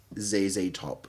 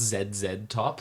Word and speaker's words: ZZ Top: in slow a huge like zzz top kind of vibe very like boogie kind of vibe yeah really fun as well and i feel like i didn't get it as much i believe it's pronounced zed top yeah sorry apologies uh